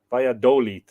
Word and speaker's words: Valladolid: Accent on the O. Valladolid. Valladolid.